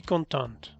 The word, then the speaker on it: contente: Je suis contente. O je suis content o je suis contente. Al pronunciar la T, lo estás diciendo en femenino.